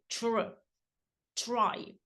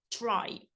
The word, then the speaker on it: try: от вона пояснювала що T у сполученні з R вимовляється як ччч try try а D у сполученні